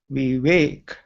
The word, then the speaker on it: Vivek: to pronounce my name so here is a clue as you wake up from your sleep you say we wake what you see on